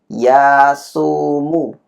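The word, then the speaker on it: 休む: Ini kan kunyominya adalah yasumu ya.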